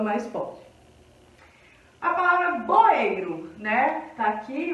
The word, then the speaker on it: boeiro: Então a sílaba que mais demorou foi o ei.